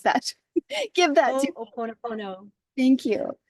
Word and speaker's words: Ho'oponopono: and give her the open, how do you pronounce that? Give that to, Ho'oponopono.